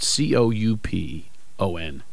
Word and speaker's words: coupon: of language how do you say the word cou P o n had you say just say it how you